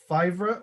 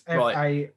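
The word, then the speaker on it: Faivre: I think it's like Favorite or something. Favorite, or is spelled. Let me have a look. I don't know this guy. So we're linked. Romain Favre. So it's Favre.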